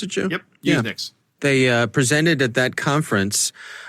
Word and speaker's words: Usenix: Is that how you pronounce it, Joe? Yep, Usenix.